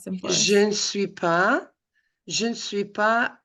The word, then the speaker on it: je ne suis pas: Instead of je suis pas, it's je ne suis pas. Pronounce. Oui. Oui, on prononce le N. You have to pronounce the N.